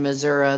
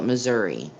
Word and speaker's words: Missouri: that don't live in missouri they call it missouri the great state of missouri you gotta extend that a longer that a-u-o sound i kind of wonder